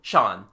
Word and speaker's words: Jean: he goes to AA the local pronunciation turns jean into Shan he is called Shan